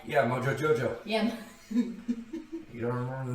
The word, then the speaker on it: Mojo Jojo: And so I walk in this tarp, and that Mojo Jojo, Moho, Yo-Yo. Okay, you know how to say it. Mojo Jojo.